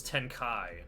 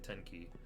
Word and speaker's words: Tenkai: Oh, it's Tenkai, not Fire Formation Tenki. I wonder if Fritzkin typed Tenki thinking I would pronounce it like Tenkai.